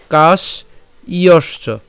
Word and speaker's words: কাশ্যশ্চ: কেন কাশ ইয়শ্চ হবে? কারণ এই যে এখানে জফলা আছে, তাহলে জফলা থাকার জন্য এর উচ্চারণ কি হবে, ইয় হবে। ঠিক আছে, তাহলে আমরা যদি ভেঙে করি, তাহলে কাশ ইয়শ্চ, আমি একদম ভেঙে দিলাম, কাশ ইয়শ্চ।